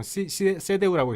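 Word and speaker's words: CDU: 독일에서는 크게 정당이 SPD, SPD라고 세데우라고 있어요. 세데우는 SDU. 그러니까 독일식 발음은 세데우. 그래서 기독교 민족연합.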